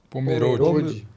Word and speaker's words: Pomerode: Apenas uma pequena correção na pronúncia da cidade que é Pomerode.